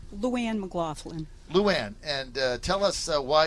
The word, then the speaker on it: LouAnne MacGlaughlin: LouAnne MacGlaughlin. Okay, LouAnne, and let's say her name right. LouAnne MacGlaughlin.